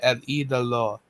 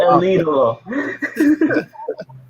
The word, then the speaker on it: El Idolo: And Andrade is Andrade el Idolo. It's Andrade el Idolo. It's Idolo. El Idolo. Oh my God, Phil! I'm gonna keep you guys on it. I love El Idolo.